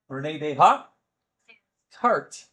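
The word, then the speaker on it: Descartes: Renee de ha cart which is spelled c r c a ar a r tes.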